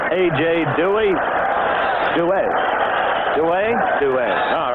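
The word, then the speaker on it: Duhe: He does want it pronounced Dewey, so we will go along with his wishes.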